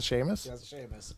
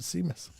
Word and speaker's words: Seamus: that right that's a sheamus oh i didn't know that i've always pronounced it seamus all right see i